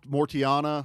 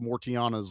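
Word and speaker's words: Mortianna: So Mortiana, I think is something how like you that. pronounce. Yeah, I think there's a T in it.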